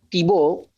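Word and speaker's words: Thiebaut: supongo que se pronuncia Tibo porque se escribe t H i E b. Podría ser catalán también, creo, no sé, pero supongo que se pronuncia tibó el apellido.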